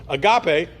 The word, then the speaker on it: agape: fine it's fine store it both has a hard G so Agape oh that's cute uh